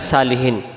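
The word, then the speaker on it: صالحين: আলাইনা ওয়ালা ওয়ালা মানে উপরে ইবাদিল্লাহিস আল্লাহর বান্দার সালেহীন নেককার বা সৎ সলিহীন শব্দের অর্থ হলো নেককার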